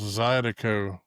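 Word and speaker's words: zydeco: So the the cinjun music is it's pronounced Zidico.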